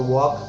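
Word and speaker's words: walk: जैसे WAL के इसमें L साइलेंट है तो वॉक, TAL के L साइलेंट है टॉक, CHAL के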